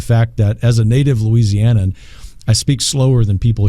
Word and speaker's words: Louisiana: heart of cinjun country we pronounce every syllable it's Louisiana yes well interesting data